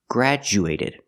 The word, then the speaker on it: graduated: black cat gr and the D changes to a j sound like juice and jump so we say grad graduated we see that a lot with du in the middle of a word word changing to JJ for example schedule right we don't say schedu we say schedule so the same thing here grad graduated graduated he graduated from high